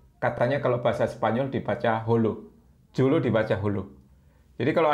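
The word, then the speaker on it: Jolo: dulu tahu Lho katanya kalau bahasa Spanyol dibaca hollow julu dibaca Hulk Jadi kalau ada tulisan Jakarta bacanya hakarta I hope Filipina Selatan januari2019 lalu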